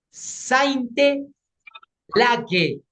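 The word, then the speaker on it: Sainte-Laguë: A ver, se escribe S-A-I-N-T-E, Saint. Una vez más, S-A-I-N-T. Le ponen guión y es L-A-G con U y E. ¿Quiénes la han encontrado? Sainte Lague.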